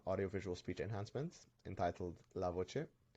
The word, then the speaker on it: LaVoce: visual speech enhancements entitled lavoce it's pronounced lavoce which means the voice in Italian engineer foreign my name